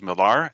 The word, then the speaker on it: Millar: It's easy to pronounce my name Miller, but it is Millar, and I'm with International Accreditation Service.